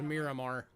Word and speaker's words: Myanmar: the the maya the myanmar myanmar miramar how i think it's actually technically pronounced miramar is the actual technical pronunciation of this place but it's 1994 20